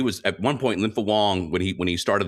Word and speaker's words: Wang: Uh Lympo Wong, I used to pronounce it Wang. It's Wong.